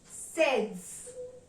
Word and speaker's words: seize: So the number 16 will be pronounced in French as sehz.